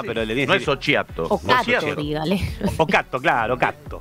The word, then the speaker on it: Occhiato: Occhiato se pronuncia. No, pero le dice. No es Occhiato.